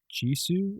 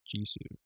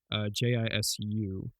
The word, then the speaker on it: Jisoo: One of them is Jisoo or Jis. I don't know how to pronounce it. I don't think it's Japanese. I'm pretty sure it's just Jisoo. Jisu. So I think it's Jisoo.